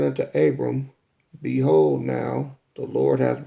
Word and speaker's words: Abram: i'm going to start off verse one and two this is our forefather abraham whose name is pronounced abram right now now sarah abram's wife bare him